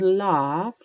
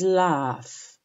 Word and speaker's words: laugh: Okay, pronunciation of the word laugh is extremely important. Okay, it's not laug or something else, it is laugh.